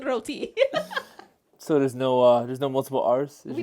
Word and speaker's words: roti: It's not pronounced roti. So there's no multiple R's? We don't roll the R. We just say roti.